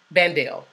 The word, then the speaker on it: Bandel: Did I pronounce that right? Bandel.